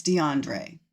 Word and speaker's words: DeAndre: Yes, I've been pronouncing his name incorrectly and I was corrected by my friend who called me and told me I am pronouncing that name wrong. So, it's DeAndre.